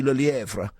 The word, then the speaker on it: Le Lièvre: Did he pronounce that all right, Catherine? You going to pick him up on that? He's pronouncing it beautifully.